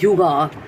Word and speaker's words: Hygge: So Hygge is pronounced as Yuga, which is the quality of presence of an